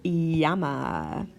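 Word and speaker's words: llama: la la la sound but two L's together make a you sound such as in yes or yell okay a perfect example of this is the word Yama hey Yama like that like the animal Yama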